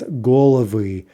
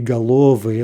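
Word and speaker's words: головы: 23, galava becomes golavy. Okay, so there's one, right? 3 syllables. We expect the stress to jump back, but it could be galovy, at least in theory. Golavy is more likely, and that's what it is.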